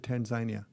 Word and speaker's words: Tanzania: Tanzania, okay. Well, yes, the locals pronounce it Tanzania. I was unfamiliar with that.